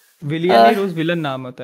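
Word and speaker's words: William: कह रहे हूं आप विलियन का स्पेलिंग ही वही है विलयन नहीं नहीं नहीं विलियम डब्लू आई वाला होगा ना हां डब्लू होगा फिर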